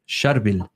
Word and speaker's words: Charbel: And you say it like this, Sharbil, very hard. It's a tongue twister. And so in kindergarten, the teacher, my parents said, "Oh, Sharbil is his name."